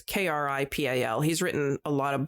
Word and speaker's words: Kripal: the documentary, they interviewed, I don't know if I'm going to pronounce his name right, Jeffrey Kripal, who has written, it's Kripal.